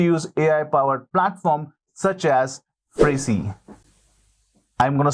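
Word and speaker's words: Phrasee: Another way to use AI for your ad creative optimization is to use AI-powered platform such as Frasee. I'm going to spell it P-H-R-A-S-E-E.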